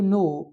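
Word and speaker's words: know: उसके बाद है डू यू नो हु नॉक एट the door. तो यहाँ पे नो में के है और हु में जो है डब्ल्यू है।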